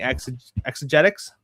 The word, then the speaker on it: Exegetics: and then Jared, Refining Exegetics. Yo. Exegetics, I think. Yes, yeah. It is exegetics. Okay, so I'm the only person that pronounced it right the first time.